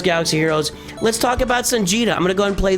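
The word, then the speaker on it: Songeta: But Sanja knows what he's talking about. It's spelled like Vegeta with a sun in front instead of a V in front.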